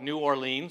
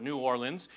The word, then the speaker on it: New Orleans: to the New World, they created a new city called New Orléans. But nobody pronounces it that way. We call it New Orleans or New Orleans. And if you're from that area, they might call it Nolens. But basically, you have one city, and there's four different ways to pronounce it.